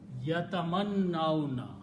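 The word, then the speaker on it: يَتَمَنَّوْنَهُ: And when you start pronouncing, you combine noon with the vowel, so yatamannauna. You have to look here to pronounce it correctly.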